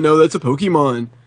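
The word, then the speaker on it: Pokémon: Anytime I play something with Pokemon, they're like, oh my god, how do you not know that's a Pokemon? It's pronounced Pokemon.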